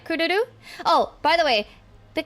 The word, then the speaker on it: Kururu: People will probably say Kryl, but the thing is, I don't know, I don't like the sound of it. I just say her Japanese name, the Japanese pronunciation of her name, Kururu. So just to clarify, that's why I'm saying Kururu.